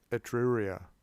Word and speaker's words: Etruria: So at Volaterrae, which is in Etruria. How do you pronounce that place? Etruria.